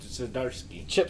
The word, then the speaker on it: Zdarsky: Yeah, Chip Zdarsky.